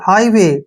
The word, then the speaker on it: हाईवे: हम, ठीक है, और आई जी एच को यहाँ पर आई पढ़ेंगे, ऐसे आई, हाई हो गया ना, हाई, ठीक है, और डब्ल्यू का उच्चारण वह करेंगे, और ए वाई को ए की मात्रा पढ़ेंगे, हाई, हाईवे, ठीक है ना, हाईवे,